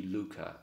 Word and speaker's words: Luca: fluidity currency um I have named the currency Luca l u Ka reason being it's a two- syllable word that can be pronounced in most